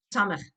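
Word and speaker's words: סמך: Samech, samech. That's a sin. This is a samech. The samach is like circular, and that's how I try and remind the kids. It's circular. It's samach. It's s.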